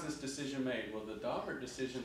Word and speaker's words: Daubert: I know it looks like a French word, but it's based on, I mean, the family that this was in this case, they pronounced their own name Daubert.